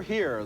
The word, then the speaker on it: Hire: come back M sure here the story of a lonely man whose sexual fantasies make him a murder suspect name m sure here that's spelled h i r e and this is one